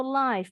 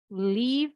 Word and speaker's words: live: We prefer to live atau live. Bacanya ada 2. Live atau live version of the concert.